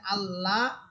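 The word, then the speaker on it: الله: এখানে আল্লাহ আকার দিয়ে পড়া যাবে না।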